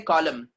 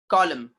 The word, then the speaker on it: column: For example, column, MN are coming together. Whenever MN are coming together in a word, M will be the pronounced and the N will be silent. We say column, column, column.